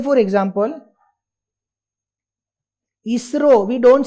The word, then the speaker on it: ISRO: बना दिया ISRO and we now pronounce it as a single word, ISRO.